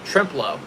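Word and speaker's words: Trempealeau: one County you're struggling pronounce trimp uh then with a low trimp low sounds like shrimp shrimp trimp low okay thanks man I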